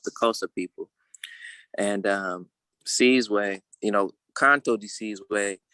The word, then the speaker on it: Sizwe: me to say it on the continent it's pronounced seize way and seize way literally